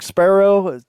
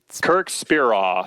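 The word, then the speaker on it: Speraw: your old coach, Kirk Sparrow. Am I saying it right? Sparrow? Yeah, Kirk Spiraw. Spiraw. Yeah. It's just weird the way that it's spelled.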